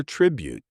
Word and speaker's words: tribute: You'll hear tribute today mostly in the positive sense. A tribute concert paying tribute to a fallen hero. Pronunciation stress on the first syllable. Tribute. Keep that first vowel short and sharp.